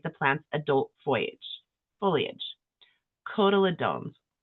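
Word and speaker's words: cotyledons: Kodaladones I'm pretty sure that's how it's said.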